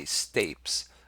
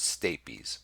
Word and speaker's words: stapes: is the state bees and some people say stapes I pronounce it stay peas and some malleus incus stapes and we'll look